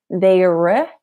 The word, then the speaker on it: there: So instead of there, very, there, it's just there. Now the most important part there is look at the mouth.